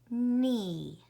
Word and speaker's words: knee: I don't hear the K because K-N together say N. K is a silent letter or a ghost letter.